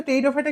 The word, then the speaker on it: টেরিডোফাইটা: টেরিডোফাইটা আমার কথা বুঝা গেছে টেরিডোফাইটা কিন্তু বানানটা পি দিয়ে শুরু হয় ঠিক আছে পি টেরিডোফাইটা তাহলে আশা করা হচ্ছে